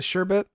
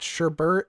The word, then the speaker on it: sherbet: or sherbet apparently fancy the sure but the sherbet that is the common usage apparently us calling it sherbert is the like least common it's probably like